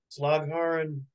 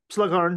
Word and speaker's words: Slagharen: Slagharen, Holland. Oh, wow. I probably didn't pronounce it right, but I was close. No, you did. Slagharen, yep.